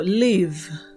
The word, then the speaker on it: live: vamos con el siguiente el verbo live en su sonido también suena como si fuera una V es decir la e no se pronuncia Live en pasado con